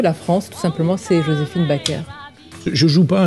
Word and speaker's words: Joséphine Baker: Ma France, c'est Joséphine Baker, pour le prononcer en français.